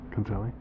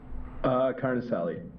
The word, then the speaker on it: Carnicelli: should have Trevor O'Leary, Mariana Degatti, and Carnicelli. Did I pronounce that right? Concelli? Carnicelli.